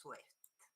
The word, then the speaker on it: SWIFT: But again, the pronunciation is Swift with a very short I.